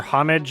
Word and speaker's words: homage: how much of an homage this is clearly trying to be. Or "homage", I guess. 'Cuz, apparently I'm supposed to pronounce it that way.